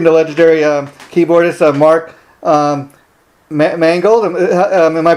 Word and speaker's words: Mangold: uh we're speaking to legendary keyboardists mark um mangled am i pronouncing your name right mark yes you are